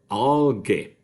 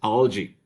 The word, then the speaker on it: algae: the pronunciation is different for instance if you think about alga a-l-g-a okay with the meaning of alga of course the plural is supposed to be just as vertebrae um all gay and unfortunately is mispronounced very commonly so as algae okay now this does not